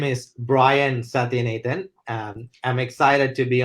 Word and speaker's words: Sathianathan: for having me uh my name is Brian satin Ethan um I'm excited to be on the show